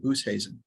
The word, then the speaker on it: Oosthuizen: So I just saw Jolene Oosthuizen. That's how she pronounces her last name.